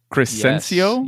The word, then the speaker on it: Crescencio: Crescencio? Yes. How do you say it? That's exactly what it is.